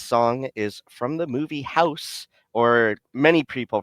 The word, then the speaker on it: House: This song is from the movie House, or many people pronounce it Hausu, but the the pronunciation is house because the last vowel is actually swallowed in the Japanese dialect.